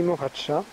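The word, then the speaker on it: Morača: de la mort aka qu'on prononce ici moraca et près de la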